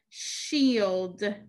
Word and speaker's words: shield: know what it is it is a shield shield shield e the key word shield helps us remember the e sound spelled with digraph i e so again digraph i